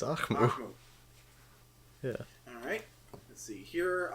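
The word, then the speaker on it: Ahkmou: It's Akmu.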